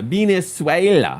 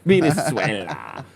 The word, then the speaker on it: Venezuela: Yeah, Venezuela. That's how you got to say it. ¿Cómo se dice Venezuela? Venezuela.